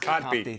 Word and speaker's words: Kotb: Kotb.